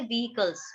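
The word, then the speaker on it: vehicles: व्हीकल्स. मैंने भी गलत बोला. व्हीकल्स, एच का साउंड आता है.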